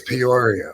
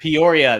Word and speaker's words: Peoria: or what is it is it P Illinois am I right on that I think you you seem to take a syllable out of it when you say it yeah I think I do I got Mushmouth with it I think it's Peoria Peoria there we go Peoria I think